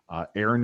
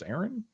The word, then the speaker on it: Aeryn: And reading, I am reading the Iron Kingdoms Chronicles by Aaron Rudell, and I'm not sure if I'm pronouncing it right because it's spelled Aeryn, but I'm pretty sure that's Aaron.